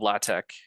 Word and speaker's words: LaTeX: pronounce this um so the tech part of latek was intended to be te with letters t Epsilon and Kai from the Greek te um it's sort